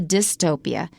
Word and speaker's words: dystopia: but here we're gonna be talking about a dystopia and we change the eu to d-y-s d-y-s-t-o-p-i-a